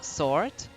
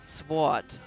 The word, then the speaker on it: sword: letter in the word sword because um most people don't most people especially non-native speakers just spell it like sword but it's actually sword and maybe uh i